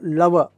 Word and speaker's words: लाओस: फिर एक देश लाओस यह फ्रेंच लोगों ने आखिरी में एस लगाया है फ्रेंच में जब आखिरी में एस आता है तो उसका उच्चारण नहीं होता है तो यह होता है एओ लव तो लव के नाम पर